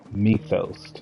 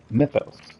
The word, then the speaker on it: Mythos: Clive is known as methos I hate the way they pronounce it because it's m-y-t-h-o Mythos they call it methos like they they stretch it too much to try to whatever